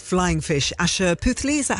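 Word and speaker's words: Asha Puthli: Asher Puthli, is that how you say her name?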